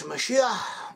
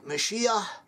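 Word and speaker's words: משיח: Messiah in Hebrew is Mashiach, Mashiach. It has like a hay sound at the end with a little bit of a guttural inclination, of Mashiach. Sometimes it becomes stronger, Mashiach.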